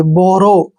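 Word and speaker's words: borrow: आर ओ डब् देखिए बी उच्चारण हम क्या करते हैं ब ओ को ओ की मात्रा पढ़ते हैं डबल आर को हम र पढ़ते हैं ओ डब्लू को यहां पर ओ की मात्रा पढ़ेंगे बोरो बोरो मींस होता है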